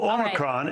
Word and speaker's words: Omicron: They pronounce it Omicron. So Omicron is the way to pronounce it, or Omicron here in the U.S.